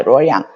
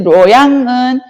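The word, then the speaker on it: 洛阳: 그리고 이 시안하고 가깝고 황허강의 이점을 그대로 가지고 있던 이제 지역이 낙양, 이걸 중국어로 발음하면 로양입니다. 로양. 그래서 이 로양은 이제 어떻게 보면은 가깝다 보니까 서브의 개념이 있었어요.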